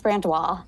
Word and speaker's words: Brandois: actually say it well it's actually pronounced brand wall it's spelled it looks